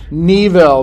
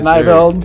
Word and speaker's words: Nieveld: well like many others I pronounced your last name the wrong way all year neeld right not neld y NE we'll make